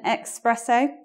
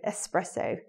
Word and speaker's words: espresso: X presser want an expresso but it's more elegant to pronounce this word with that s s Rosso espresso and looking at the